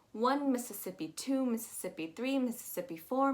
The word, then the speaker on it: Mississippi: lot of syllables um that first i is an e that second i is